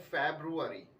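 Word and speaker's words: February: फरवरी अब याद रखिएगा फरवरी में हमें कोई भी वर्ड या कोई भी लेटर जो है वो छोड़ना नहीं है फेब्रुवारी इसमें कुछ भी हमें छोड़ना नहीं अब यह वर्ड आपने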